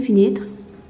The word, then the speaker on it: fenêtre: Cette prononciation ici est fait, pas et t, pas dit et, fenêtre.